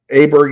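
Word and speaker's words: Åberg: Uh Aberg is 100% my guy or or Bayer or whatever you want to say his name. Call him Aberg because that's what his name says to my brain.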